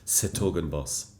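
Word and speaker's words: 's-Hertogenbosch: So it's stoogen boss.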